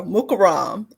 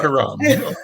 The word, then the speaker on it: Mukarram: Better pronunciation there. Mukarram is correct. Mukarram.